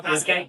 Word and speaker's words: Pass@K: I don't know how to say it. Is it like Pass@K? Mhm. Yeah, Pass@K.